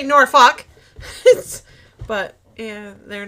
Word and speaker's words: Norfolk: When I went to Virginia, when Mike and Belinda were stationed in Norfolk, but that's not how they say it. It's Norfolk.